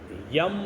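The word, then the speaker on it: यं: इस जगह का जो बीज मंत्र है वो यम है। य के ऊपर मैं की मात्रा, उच्चारण इसका रहेगा। इसको संतुलित करने के लिए इसका उच्चारण करेंगे यम यम यम यम यम यम।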